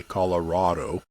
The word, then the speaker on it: Colorado: take us in yeah how do you say Colorado I say Colorado some people say Colorado yeah and so when